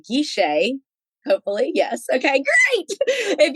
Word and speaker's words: Guichet: It's Gisha.